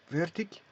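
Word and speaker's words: veertig: Donc, V-E-E, là, il y a une accentuation parce qu'il y a une double voyelle. 40. Vertic. Ou soit tug ou tig.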